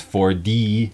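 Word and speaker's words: forty-one: 2 says 41 it's the t is pronounced like an actual t but then winner says it with with the american accent where the t turns into a d so it becomes 4d that's the way i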